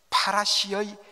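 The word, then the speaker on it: פְּרוּשִׁים: 바리새인, 바로 파리사이, 이렇게 헬라어로 발음을 하는데 이것은 히브리어 파라시의 헬라어 표기입니다. 파라시를 헬라어로 표기하다 보니까 파리사이가 된 것입니다.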